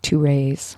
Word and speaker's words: Thérèse: But the way you say her name is? ToRAISE. ToRAISE.